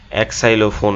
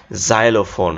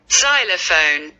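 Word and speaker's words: xylophone: তারপর খেয়াল করো এটা কি এক্সাইলোফোন, এরকম উচ্চারণ করবো আমরা অনেকেই, বাট এটার উচ্চারণটা একটু মজার। খেয়াল করো জাইলোফোন। হ্যাঁ, এবার তোমাদেরকে আমি সাউন্ডটা শুনাই, জাইলোফোন জাইলোফোন।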